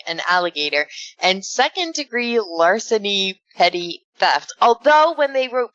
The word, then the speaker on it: petit: dictionary right now teddy is spelled PE TI t but it's pronounced petty PE TTY well then why is